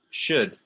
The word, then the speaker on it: should: yeah repeat after me should one more time should shoot do it remember the l is silent should shoot how do